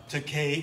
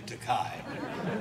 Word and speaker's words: Takei: he says you know takei is definitely okay compared to takai and i told him